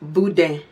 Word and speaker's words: boudin: a south Louisiana girl it's pronounced Buddha and it's French of course so it's like Boo like you know boo and then like if you was gonna say Dan but you don't say the end you just kind of